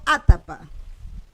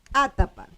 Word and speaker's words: atapa: Entonces, por ejemplo, atapa. Atapa. Miro la segunda sílaba. La segunda sílaba es abierta, por lo tanto, yo acentúo la primera. Okay. Y es verdad. Sí, es verdad. Es atapa. Obedece. Sí.